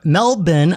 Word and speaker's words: Melbourne: yes, and you say Melbourne because that's the right way to say it. because even I though, went there and we called it Melbourne, Yes. and everyone's like, "No, it's Melbourne."